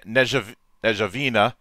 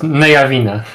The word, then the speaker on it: Nejavina: the creator of the upcom of the upcoming negev ajavina sorry if i mispronounced that that um a mix of 5e